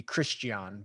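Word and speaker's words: Christiaan: That's how you would technically, if you wanted to be a true South African, it'd be Christian, but because it's double A at the end, but Christian would certainly work.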